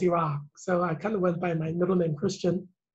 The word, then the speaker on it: Heerak: Actually, I use my middle name, because, you know, my first name is hard to pronounce, Iraq, so I kind of went by my middle name.